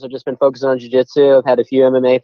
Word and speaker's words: jiu-jitsu: Jiu-jitsu, yeah, you got jiu-jitsu.